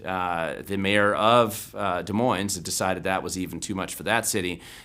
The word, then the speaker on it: Des Moines: washington state if you're local you tend to pronounce it des moines not des moines but uh that being said they have a